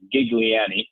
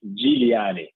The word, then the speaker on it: Giuliani: I think the way I usually hear it being said in the U.S. is Giuliani with a strong G, but the Italian way to pronounce it would be Giuliani.